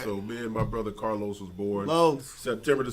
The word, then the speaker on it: Carl: You know, everybody be like, hey, Carlos. Hey, Carlos. I'm like, wait a minute, my name Carl. My name come first. Right. You know, but them two syllables, Carlos, they would always say.